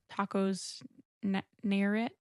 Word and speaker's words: Nayarit: There's one place in particular you were like, it's Tacos Nayarit.